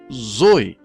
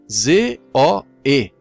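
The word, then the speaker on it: ζωή: Deus ou vida eterna, são pronunciadas Zoe, Z-O-E, Zoe, vida.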